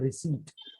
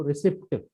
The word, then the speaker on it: receipt: ये होता है, इसका सही उच्चारण होता है रिसीट, यानी कि रसीद जिसे कहते हैं, इसका सही उच्चारण होता है रिसीट। पर जैसे लिखा आप वैसे ही याद कर लो, रिसिप्ट, RECEIPT।